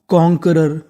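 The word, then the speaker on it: conqueror: क्या बन गई कॉनकरर क्यू यू ई इसे खाली पढ़ना है हमें का। क्या पढ़ना है? का तो पूरी मीनिंग कॉनकरर।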